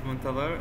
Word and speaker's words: Muntadher: feel good so my name my name is montalvar and i am a communication engineering graduate i